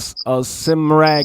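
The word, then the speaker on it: Cymraeg: and the language is called Simrag Nigamru, Nigamaru is called Welsh language. That's the actual pronunciation of Welsh is Simrag Nigamaru.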